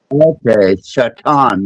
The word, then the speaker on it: shaitan: ] you say that no seriously shaitan shaitan h a i t an okay shaitan the all powerful full all knowing one.